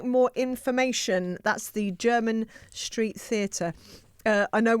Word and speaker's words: Jermyn: if you would like more information that's the German Street Theater uh I know we've pronounced it a number of different ways this